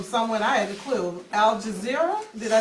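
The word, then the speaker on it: Al Jazeera: So, um a little while ago, we had gotten a call from someone I had a clue, Al Jazer.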